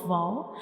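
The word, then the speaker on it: و: We will make a circle with the help of up and down lip, and we don't touch these two lips completely. We only make a circle to pronounce wow, like wow, wow.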